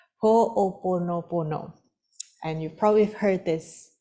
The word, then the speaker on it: Ho'oponopono: Let me just get the right pronunciation. Ho'oponopono.